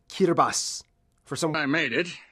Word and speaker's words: Kiribati: It's pronounced Kiribati.